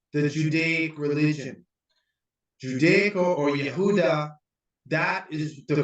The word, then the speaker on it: Yehuda: judaic religion judaic or Yehuda that is the correct pronunciation with the Y not with the J because there's no J in Hebrew what is happening is